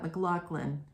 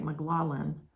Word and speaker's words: McLaughlin: and the poster that's McLaughlin is spelled way differently than he's pronouncing it's more like McLaughlin or something like that um because it's m-c-l-a-u-g-h-l-i-n so you don't you don't pronounce that McLaughlin with the hard you know the C in the middle or ck or whatever Anyway said it like